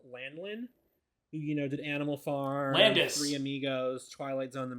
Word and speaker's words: Landis: So you keep saying his name wrong. It's John Landis.